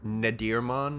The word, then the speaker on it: Nadirmon: mon it was uh nadirmon I believe it was nidio yeah n a d i r mon like natter natter and okay I was